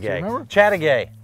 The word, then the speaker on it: Chateaugay: I couldn't pronounce it, Chateaugay. remember? Chateaugay. Chateaugay.